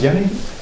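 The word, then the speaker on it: Jenny: Yan's last name Hans Yenni Yenni is with the j j e n n y um but in German it's pronounced like a y uh in the back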